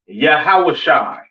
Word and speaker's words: Yahawashi: forth and so on now Christ's name in Hebrew is not Yahweh it's not yahoshua all right it is yahawashi all right yahi all